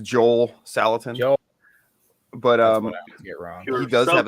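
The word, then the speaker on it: Joel Salatin: not one of these did I say his name right this time I feel like I always get it would you who'd you say again Joey Saladin he said well his name's Joel salitan but um he does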